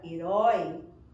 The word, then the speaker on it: herói: Na palavra herói, eu percebo que a última sílaba também é a mais forte e fica explícito.